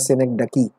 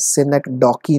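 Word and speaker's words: synecdoche: Important, that is called सिनेक्डकी। सबसे पहले तो you should be able to pronounce it clearly guys. सिनेक्डॉकी नहीं होता guys, it इज सिनेक्डकी, इट इज सिनेक्डकी। गॉट इट? डकी आपको बोलना है, सिनेक्डकी।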